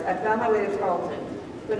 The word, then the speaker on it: Tarleton: In my search to serve others, I found my way to Tarleton, but not as a student, as an employee.